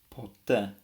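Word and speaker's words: ποτέ: Greek letter Epsilon so this is the Greek word for never and it's pronounced po um and you'll have noticed that the way I said it was I emphasized this vowel I said I didn't say po I said po um and that's a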